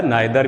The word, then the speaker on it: neither: दरअसल क्या होता है ना कि ये जो ईदर या नीदर जो है इसको आइदर या नाइदर भी कहते हैं ना। दोनों मतलब जो जिस तरह से आप जो आपकी ज़बान पर बेहतर रहे, जो प्रोनाउंसिएशन होता है ना, जैसे उच्चारण आप कह सकते हैं, इसमें दोनों सही हैं।